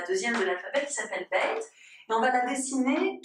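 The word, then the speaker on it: ב: Beit ou Veit, c'est la même lettre, et voilà comment elle s'écrit. Beit ou Veit, elle se prononce B ou V, pour nous c'est un Beit.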